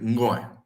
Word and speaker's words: ngoy: The N in Bantu languages is silent. So you really don't say N, you say ngoy, ngoy, ngoy.